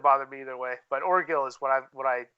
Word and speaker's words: Orgill: to say your name oh my name orgill o-r-g-i-l-l or Gill or Gill yeah Lauren Hill okay I didn't know if it was a hard G or not that could go like give like gif some people say or Jill you know and I